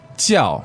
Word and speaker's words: 叫: 叫我叫 jiao, fourth tone.